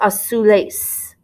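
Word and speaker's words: azules: a soul a soul when you're doing the z make sure you have an s sound and so you have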